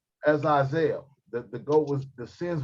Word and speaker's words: Azazel: Azazel. Azazel.